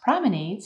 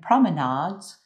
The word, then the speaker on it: promenades: Pay attention to this word because it can be pronounced promenades in American English and promenades in British English.